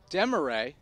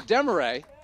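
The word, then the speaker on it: Demarrais: So the new second baseman, Garrett Demaray, even though it's spelled M-A or D-E-M-A-R-R-A-I-S, it's actually pronounced like the French way.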